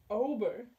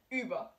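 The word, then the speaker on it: über: you pronounce this open over over okay so this one is actually hard to pronounce cuz this is what we call an umlaut the first letter is pronounced ooh so you guys gonna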